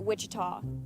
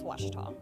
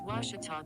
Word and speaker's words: Ouachita: for washida baptist university back in texas everybody pronounces it wichita but really it's ouachita washington washington how would you pronounce it it's washita baptist university get it